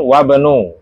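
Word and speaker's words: وَابْنُ: Putranya Amar adalah ini adalah seorang siswa dan putranya Yasir wabnu. Bacanya wabnu. Kenapa? Karena berupa hamzah was ketika tengah-tengah dia enggak kebaca ya.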